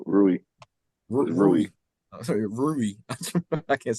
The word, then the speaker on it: Rui: the series Marie hachimura so he said Rory no I knew he was talking about rui sorry Ruby I can't